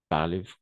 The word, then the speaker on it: parlent: En Bolivie, égal, en Bolivie, les jeunes parlent, parlent espagnol, n'est-ce pas? Parlent espagnol. ENT, on ne prononce jamais.